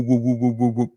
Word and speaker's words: would: would you have to we would put your lips like that would would some spanish speakers it comes from the throat it sounds like a g but it's only from the lips only from the mouth would the same pronunciation